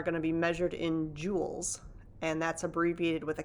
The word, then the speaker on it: joules: to be measured in joules and that's abbreviated with a capital j so the pronunciation there is it's just like sort of the the fancy gems like diamonds and sapphires and rubies and so forth but